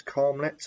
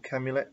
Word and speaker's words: Karmeliet: It's a triple, I think that's Karmeliet or Camulet, depending on how you want to pronounce that.